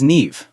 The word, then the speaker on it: Niamh: "Hi, my name is Niamh." Niamh, that's a beautiful name. How do you spell that?